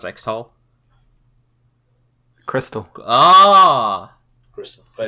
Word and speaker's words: Xtal: pronounce Xtal? Crystal.